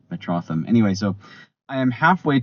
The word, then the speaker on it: Metrotham: I was pronouncing it Metroam, which you know that's fair if you try to read it, but it's it has a lot of superhero fandom involved. So, it's Metropolis and Gotham Metrotham.